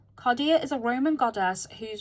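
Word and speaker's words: Cardea: Caridia? I think that's pronounced Caridia. Or, oh, Cardia. Cardia is a Roman goddess whose domain is hinges, thresholds, and doorways, both literal and symbolic.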